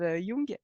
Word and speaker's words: Jung: partir de Jung, pardon, je vais le prononcer à l'allemande comme il faut et pas l'américaine parce que c'est pas du tout le même gars. Donc Carl Gustav Jung, qui était voilà, qui